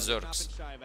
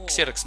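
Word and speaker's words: Xerxes: Они его называют Зеркс. Там ударение можно поменять местами, да, ну, чтобы русскому языку, русскому слуху, точнее, это приятнее звучало. Я его Ксеркс называл, ну, потому что так вроде как бы не совсем неправильно называть.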